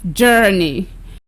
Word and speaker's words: journey: So it is pronounced journey, journey.